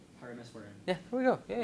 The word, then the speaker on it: Parameswaran: Parameswaran. Parameswaran.